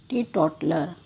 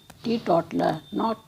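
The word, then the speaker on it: teetotaler: Next word is टी टॉटलर. इसका pronunciation करते समय बहुत ध्यान रखना पड़ता है. टी टॉटलर, ना कि टी टॉटेलर.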